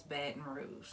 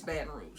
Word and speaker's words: Baton Rouge: But it's Baton Rouge. Yeah. How we say it. We say Baton Rouge.